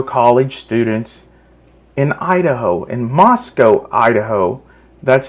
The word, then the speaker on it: Moscow: students in Idaho in Moscow Idaho that's how it's pronounced by the way it's not called Moscow that's in Russia in Idaho it's called Moscow anyways this person literally